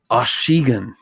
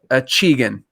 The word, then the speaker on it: Achigan: that and the guy was like oshigan and i was like oh wow we totally got that wrong so uh we decided um for the for the sake of you know just being a red-blooded american you know we we we americanized the name so we just called it a cheegan so achievement either way it sounds good either way to me